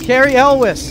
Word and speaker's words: Cary Elwes: Anyway, Cary Elwes. Was that his name? Elwes. Elwes? Cary Elwes. That doesn't sound natural, Mike. Is I that you don't sure that's how you say it? Yes, it is.